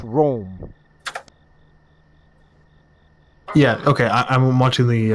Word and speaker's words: Rhoam: because it's if it's if the h is silent it's uh that it's